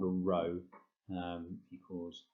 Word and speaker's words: rho: um it's called a rho um equals m over z um so if you it's pronounced row it's a greek letter um but it essentially